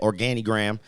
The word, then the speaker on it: Organigram: the Organigram, that's how you say it, Organigram.